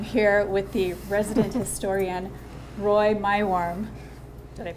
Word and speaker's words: Roy Meiworm: And I'm here with the resident historian, Roy Meiworm. Did I pronounce it correctly?